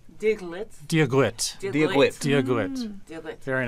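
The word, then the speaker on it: Dia dhuit: So Diagwit. Diagwit.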